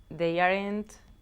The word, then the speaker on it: aren't: They aren't... Ooh, okay, be very careful here. The verb to be are and not, when it's contracted, it's one syllable, una sílaba. Aren't.